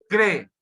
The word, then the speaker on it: crer: Tony, a palavra é crer. Amém. É uma sílaba só. Crer.